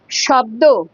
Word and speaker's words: শব্দ: ধরো শ্যামা, শ্যামল, শ্যামা, শালুক, শব্দ, শব্দতে দেখো স, একটা হ হ একটা আওয়াজ হচ্ছে, একটা স উচ্চারণ করার সময় একটা হ হ আওয়াজ হচ্ছে, স, সেক্ষেত্রে তোমার তালব্যস্য হবে।